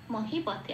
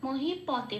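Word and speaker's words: মহীপতে: মহিপথে, পকে প বলে উচ্চারণ করছি মহিপথে।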